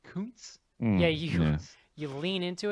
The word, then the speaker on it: Koontz: it again aaron b koontz yeah you you lean into it and you're like way over pronouncing the o yeah like you're so interesting your mouth is like rounding around the o yeah i it's so